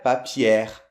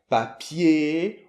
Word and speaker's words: papier: Donc voilà, donc papier, ouvrier. Crier, exactement. Pas de R, on le prononce pas là.